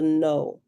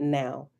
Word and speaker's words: know: the no it's not now it's spelled no k n o w but it threw me off because i thought the k might have been well that the k is silent and no but the